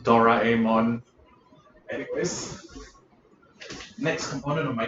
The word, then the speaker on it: Doraemon: Sorry, it's pronounced Doraemon.